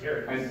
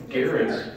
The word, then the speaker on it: Gerads: No, it's Gerads. Right. It's the hard G.